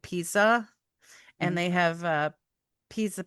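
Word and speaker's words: Pieza: Um, there's another group of wasps named, it's spelled p i e za, so it's like pizza.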